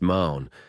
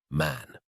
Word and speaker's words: Marn: He had a Roman nose, a snow-white, long beard, and his name was Marn, but he insisted that it should be pronounced Man.